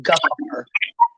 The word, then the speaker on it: gevaar: In Dutch, it is gevaar, not to be confused with Jafar, but gevaar.